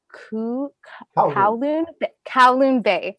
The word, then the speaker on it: Kowloon Bay: also been developing, I asked you about the pronunciation before, but it's Kowloon Bay.